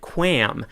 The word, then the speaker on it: QAM: And Sweet Lou in the chat room says, love it when people pronounce it QAM. So is it QAM or is it QAM, Ron?